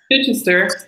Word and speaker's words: Chichester: Chichester, yes.